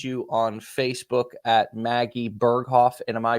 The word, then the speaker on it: Berghoff: can people find you on Facebook at Maggie berghoff and am I pronouncing that right yes you are and yes